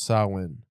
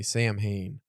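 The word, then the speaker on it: Samhain: this list people need to learn how to pronounce Sinn yeah cuz it's Irish Halloween it's like the origin or whatever but it's spelled s a m h a i n but people always say sam Hayne Sin Sin next up on this wonderful list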